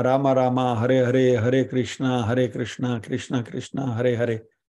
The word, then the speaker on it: कृष्ण: वैसे कृष्ण का जो प्रोनाउंसिएशन है हरे कृष्ण होना चाहिए। हरे कृष्णा करेंगे तो कृष्णा तो द्रौपदी का नाम है।